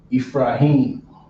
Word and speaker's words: Ephraim: In Creole, this is spelled different. The PH is an F in Creole. You're not gonna find PH in Creole. You're gonna find F.